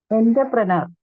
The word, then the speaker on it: entrepreneur: Entrepreneur. Entrepreneur. Yeah, almost correct, but it's entrepreneur.